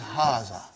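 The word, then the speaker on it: هٰذا: is pronounced like but this alif is not written it is explained in the key also so it is haza okay means this and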